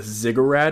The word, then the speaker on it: ziggurat: And if you guys know what a ziggurat is that how you pronounce it? Ziggurat, yeah.